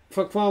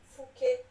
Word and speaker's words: Fouquet: Fouquet was found guilty and sent to the most